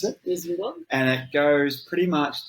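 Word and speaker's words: Wissembourg: That's how you pronounce it. Whisenborg.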